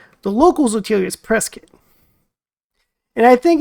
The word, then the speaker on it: Prescott: now and you caught Prescott a local will correct you and say it's pronounced Prescot it's strange the barenstein